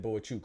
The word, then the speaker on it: Bohachuk: have the Virgil Ortiz Seri boach chuk boichuk excuse me he said boichuk right gotta pronounce the man's name right I always try to